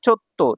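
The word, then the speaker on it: ちょっと: একসাথে টুগেদার তারপর দেখেন এখানে আছে চো এটা আছে ছোট তাহলে পরের বর্ণটা দুইবার উচ্চারণ হবে চো আর তো তাহলে তো দুইবার উচ্চারণ হলে কি হচ্ছে চত্ত চত্ত মানে হচ্ছে একটু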